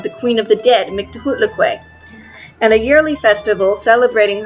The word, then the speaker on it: Mictlantecuhtli: Mictlantecuhtli and her husband Mictlantecuhtli, I said her name wrong that entire time, it's Mictlantecuhtli, and he is Mictlantecuhtli, are represented by the